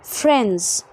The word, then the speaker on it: friends: طب امتى الدي ما بننطقهاش؟ لما اجمع الكلمه، لما يكون عندي NDS كده بخلي الدي مش منطوقه، فاقول friends تسهيل للنطق وتخفيف ليه.